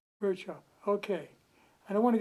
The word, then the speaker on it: Buerschaper: Shopper. Bird Chopper.